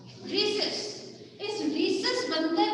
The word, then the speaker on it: rhesus: रीसस की spelling होती है RHESUS, रीसस।